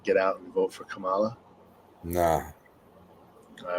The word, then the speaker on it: Kamala: name Kamala Kamala yo it was neither it was Kamala right that's how you say h name Kamala right you remember Friday